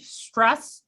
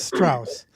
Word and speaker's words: Strauss: going to call on dave stress i'm sorry if i'm pronouncing that wrong can you hear us uh yeah hi it's strauss thank you um sure